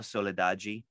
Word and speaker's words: Soledade: a goddess, but Daniela Soledaggi, it's pronounced in Portuguese, Daniela Soledaggi. If you were to write in English, it would say Soledade with an E on the end. Well, Daniela Soledade.